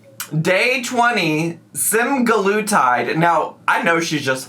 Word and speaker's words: semaglutide: But we are back again to react to Amberlynn's new video, and it is called Day 20 Semaglutide.